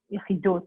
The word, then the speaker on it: Yechidus: It's something called Yechidus, or Yechidus, like comes from the word Yechid, but because Chabad and Hasidus is an Ashkenaz kind of thing, that's how they pronounce it.